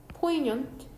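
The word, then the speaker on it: poignant: 포이 지가 묵음이에요. 포이니언트.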